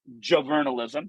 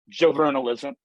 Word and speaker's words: JoVRnalism: students and I we produce under the name juvenalism that's how you pronounce it Joe vernalism we have the trademark for it um we